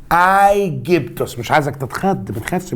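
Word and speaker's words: Αἴγυπτος: يضيف لها نها نهايه الواو والسين دي الفورمه كده بتاعه اللغه اليونانيه اللي هي تعادل حرفي الاوميكرون سيجما فبدا ينطقها ايجيبتوس مش عايزك تتخط ما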